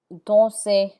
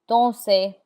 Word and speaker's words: danser: There are exceptions to that rule, and the R is not pronounced in words that end in ER. This list of words are mostly verbs like danser, to dance, danser, chanter, chanter. The ER has an A sound like AY, danser, chanter.